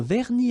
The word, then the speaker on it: vernis: Final S here not pronounced. Same thing here.